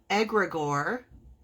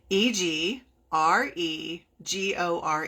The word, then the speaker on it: egregore: that's really interesting and it is called egregor and it's spelled e g r e g o r r e let me spell that again blah e g r e g o r e egregor egregor I'm pretty sure I spelled that right but if you type